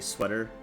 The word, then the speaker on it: SWTOR: Pronounce it correctly, sweater. Okay, sweater.